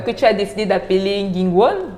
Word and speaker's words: NgìNgùn: Il y a eu ce projet que tu as décidé d'appeler Ngingwon? Ngingwon. Ngingwon. Voilà. J'espère que je prononce bien.